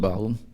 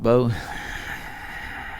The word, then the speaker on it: bough: 2 or 3 berries in the top of the uppermost bough, 4 or 5 in the outermost fruitful branches thereof." Bough, not bow?